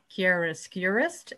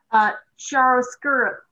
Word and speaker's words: chiaroscuro: and explain the word chiaroscurist and how it might pertain? Chiaroscuro, actually. Okay. If you think of cappuccino, chiaroscuro is a similar a sound to it, both Italian words. And chiaroscuro is about the contrast of dark and light.